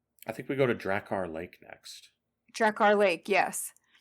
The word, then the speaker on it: Drakkar: The game, I think they pronounce it Drakkar.